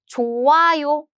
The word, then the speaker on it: 좋아요: I said 좋아요. Which means this 히 sound is gone. Why? Because this 히 sound is meeting this nasal sound. Bye-bye. When 히 and nasal sounds meet, they are gone.